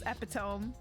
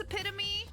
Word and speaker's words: epitome: Yeah, I still I read that in my head sometimes as epome. I know. I know that it's epitome, but but I do read whenever I'm like reading it in a book. Sometimes my brain does read it as epiome.